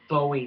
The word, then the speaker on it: Bowie: was their version of a Bowie knife, if you will, or Bowie knife, depending on what part of the country you're from and how you want to pronounce it.